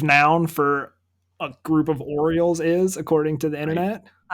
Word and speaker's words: Orioles: The Orioles. Also. Is that you don't say it like that? Oh yeah, that makes sense. It's Orioles.